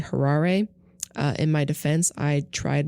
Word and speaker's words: Harare: I called the capital of Zimbabwe in my last episode Harare, and it's actually Harare.